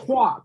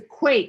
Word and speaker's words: quake: Not quack. It's a quake. It's a long a sound.